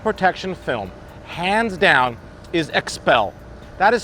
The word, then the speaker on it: Xpel: Well, let me tell you, the best company in the industry for paint protection film, hands down, is Xpel. That is spelled X-P-E-L.